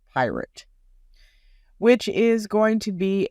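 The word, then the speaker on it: PYRT: new Venture called pirate yes that is pyr T and he pronounces it pirate which is going to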